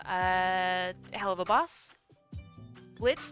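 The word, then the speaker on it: Blitzø: hell of a Boss Blitz the O is silent from uh hell of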